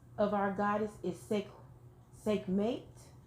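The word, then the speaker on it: Sekhmet: the first name of our goddess is SEC sick mate it's spelled s-e-k-h-m-e-t okay and she represents healing what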